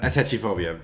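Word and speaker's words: atychiphobia: which would be um at a teacher phobia or something like however that is properly pronounced that's actually phobia i touchy-phobia thank you but i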